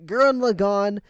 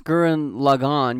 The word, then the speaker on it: Gurren Lagann: sub right yeah okay because the way you pronounce gurren lagann you pronounce like log on but the way they say it in the in the dubbed is gurren lagann gurren lagann there's a difference logan not logan but gurren logon and you go girl